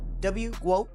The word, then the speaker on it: GWOAT: Yeah, it's like GOAT, but GWOAT, yeah.